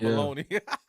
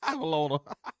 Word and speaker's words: bologna: Bogoli, not baloney. Bologna. Yeah, not baloney.